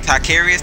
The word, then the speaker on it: Tycarius: Tycarius, that's how you say it.